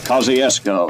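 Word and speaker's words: Kosciusko: of our revolutionary war he spelled it one way we another and it's pronounced kosciuszko and their leaders always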